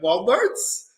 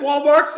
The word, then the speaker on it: Walmart: And me and my sister, we looked at my cousin going, Walmarts? Walmarts? And he goes, is it Walmarts? I'm going, no, baby, it's Walmart.